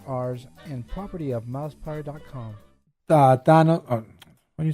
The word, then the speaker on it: Thanos: Than. Not Don.